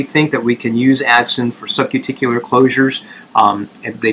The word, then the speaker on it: Adson: So I, for a very long time, thought these were Addison forceps. They're not Addison forceps, but Adson, A-D-S-O-N.